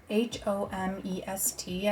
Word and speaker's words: Homest: It's spelled H-O-M-E-S-T. I believe I would just pronounce it Homest brand.